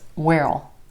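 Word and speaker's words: where'll: will you be here where will becomes well well that's a really funny sounding one well well we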